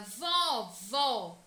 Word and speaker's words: vovó: fechado soprar dentro vovô já na palavra vovó o acento agudo presente nesta palavra mostra que a pronúncia desta sílaba tônica deve ser aberta vovó com só aberto o som para fora vó certo turma a turma